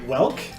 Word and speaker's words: Woelk: and we have Matt Welk hey everyone rhymes with elk thank you yes I